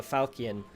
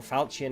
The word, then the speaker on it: falchion: to have somebody carrying a falcian or falchion however you pronounce that i think it's falcon with like a hard k sound um that's how i